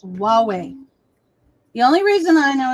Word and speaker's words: Huawei: So this is Hawaii. No. Did I said it wrong. Huawei. Okay, because to me it looks like Hawaii. Hawaii? No. Yeah, but it's Huawei.